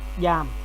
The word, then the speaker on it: giam: Giam the với g này thì đọc là giờ. Giam đọc là giam giờ giam.